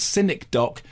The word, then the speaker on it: Synecdoche: film isn't called skiny the film is called cynic do pronounced Sky to rhyme with sken that's the whole